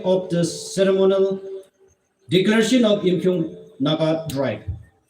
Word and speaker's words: Yimkhiung: the ceremonial declaration of YIMKHIUNG Naga tribe. Literally, the name Yimchunger or Yimchunger is a mispronunciation or misspelled word.